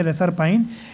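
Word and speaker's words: reserpine: तो रेसरपाइन जो है ना, रेसरपाइन एक्चुअली इसको प्रोनाउंस करेंगे रेसरपाइन, इट is extracted from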